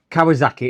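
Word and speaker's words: Kawasaki: Uh, Kawazaki is how it's pronounced.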